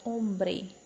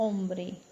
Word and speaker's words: hombre: a pronúncia fica ou por exemplo palavra hombre a hombre h mudo segue a sequência da letra seguinte que é o estávamos